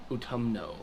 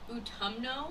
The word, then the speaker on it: Utumno: melchor could create autumn what utam no utumno yeah that sounds like my toe and my tongue made something it does sound stinky